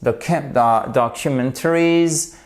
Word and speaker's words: documentaries: En fait, vous avez un petit accent tonique ici qui est un accent tonique secondaire pour soutenir le mot au début.